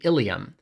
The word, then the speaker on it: ileum: a section called the ileum. For those familiar with skeletal anatomy, I'm sorry, it's pronounced the same as your pelvic bone, but spelled differently, anatomists suck. From the ileum, we enter the large